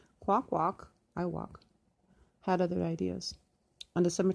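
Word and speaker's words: Kwakwaka'wakw: Chief Dan Kramer of the Nagmas tribe of the Kwakwakwa, Wakwa, pronounced Kwakwak, Iowak. Oh, that's how you pronounce it. Kwakwak, Iowak, had other ideas.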